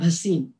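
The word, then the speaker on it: Bhasin: just want to say that my surname is pronounced as basin not as basin just so that you know kamla bhasim so friends i am in awe of mother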